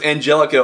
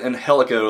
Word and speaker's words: Angelico: funny he said he he said his name was Angelico and then everybody pronounced it inh helico like the rest of